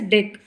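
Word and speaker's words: deque: It is pronounced as DEQ.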